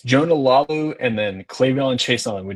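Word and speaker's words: Laulu: gonna be doing I can't even say, is Lalu, right? Is that how you say his name? Yeah, it's Jonah Lalu and then Clayvon Chason. We did not, as far as our pronunciation goes, I did not exactly do us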